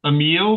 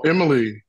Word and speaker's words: Emily: Lesson One, Isfahan, Emil. Did I pronounce that right? Oh, Emily. Yeah. Emily, okay. See, David, I'm the Norman Crosby.